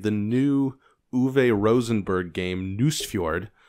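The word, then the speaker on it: Nusfjord: new ave rosenberg game news feud which is a delight to say and pronounce news fjord but it's about nordic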